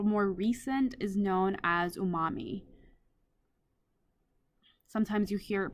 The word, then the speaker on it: umami: that's a little more recent is known as Umami sometimes you hear it pronounced as unami um either one works for me uh this